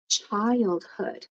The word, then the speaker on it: childhood: So, child, and then the H. If you speak French, you might not pronounce the H, but you want to feel air here. Hood. Childhood.